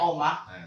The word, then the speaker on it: Oemah: Jadi Oemah tulisannya Oemah, bacanya Omah titik Cendekia _official.